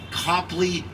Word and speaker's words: Copley: bay neighborhood cobley square locally pronounced copley square named after john singleton